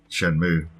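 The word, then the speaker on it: Shenmue: it me or Pac-Man keep calling it Shen muui like that's not a correct pronunciation anyways Shen mu so we've been calling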